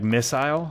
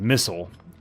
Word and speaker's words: missile: But like yeah, like missile, I guess is the way that British English says it, and missile is U.S. English. But I've just always read it as missile, because there's an I.